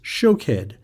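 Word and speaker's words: שֹׁקֵד: Almond is shakhed and watch is shokhed.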